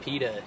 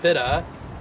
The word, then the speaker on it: pitta: So we all grow up and we're like, it's pronounced pita, dude. And then he'd be like, no, it's pronounced pitta.